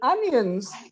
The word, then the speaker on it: onions: In onions, it's pronounced z, onions. But in sheets, it's s, sheets.